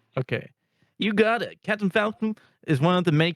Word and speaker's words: Falcon: he actually failed because he said Captain Falco it's Falcon listen I wanted to